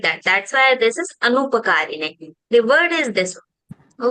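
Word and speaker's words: अनुपकारिणे: We have to read it Anupakarine. Yes, But it in is class, they are Anupakarane. telling Upakarine, they are pronouncing as Upakarine.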